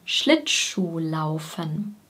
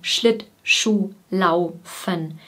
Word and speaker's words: Schlittschuhlaufen: Die Betonung ist vorne. Schlittschuhlaufen. Wir trennen die Silben Schlittschuhlaufen nicht so extrem, sondern wir verbinden die ersten beiden Silben. Schlittschuh, sodass es wie Tschuh klingt.